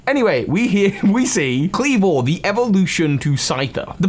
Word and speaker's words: Kleavor: which by the way i think i'm pronouncing clever not just cleaver flat i know the etymology of the word is obviously the item of cleaver i think clever not only sounds better but is i think how it's intended